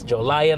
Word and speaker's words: Jolion: haval Joe lion yes Joe lion like I mentioned in the walk around that's how the name of the vehicle is uh pronounced and you know what